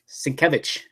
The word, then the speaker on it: Sienkiewicz: well Bill svich okay I finally know how to pronounce his last name because the man himself explain it svich but one of my